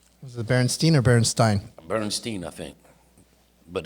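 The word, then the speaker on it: Berenstain: It was like, what was it, the Berenstein Bears or the Berenstein Bears? Oh, Was it Berenstein or Berenstein? Bernstein, I think.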